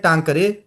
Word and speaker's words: टांकरी: हमारे यहाँ क्या कहते हैं, हमारे यहाँ कहते हैं टांकरे अक्षर, वहाँ ख को छ, अपने क्षेत्र की उच्चारण का ये। तो हमारे यहाँ इसको टांकरे अक्षर भी कहा जाता है, टांकरी, टाकरी। हिमाचल में कुछ टाकरी भी कहते हैं, परंतु टाकरी का